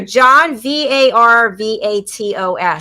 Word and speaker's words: Varvatos: Here, John Varvatos.